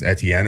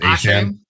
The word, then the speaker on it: Etienne: say his name right, Travis Etienne, or now he says it's pronounced Achane.